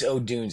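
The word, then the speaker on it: Odunze: yeah so it is OD dun somebody who watched every Washington game for two dozen Seasons I've I it's Odun it's always been Odun but there's a lot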